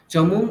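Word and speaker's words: चमूम्: চমুম, ওখানে ময় দীর্ঘ বলুন, তারপর মকারটা বলবেন, চমুম, বলুন আবার।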